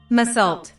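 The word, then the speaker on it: Meursault: Oh, it's Merceau. And Merceau is actually a type of Burgundy wine. I just typed it in how to pronounce Merceau, and it's Merceau. Mersault.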